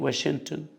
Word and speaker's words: Washington: دي بتتنطق واشنطن. اوكي جينا سايلنت.